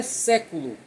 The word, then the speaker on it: século: O exemplo é século. Eu não leio século, eu leio século.